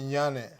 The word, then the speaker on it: Nyanneh: Nyanneh. The N is silent. Oh, Yeah, it's Nyaneh. Okay. So the N is silent. They call me Nyanneh.